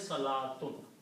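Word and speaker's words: صلاة: this this well so this wow is not pronounced here okay so the word is Salat okay and if I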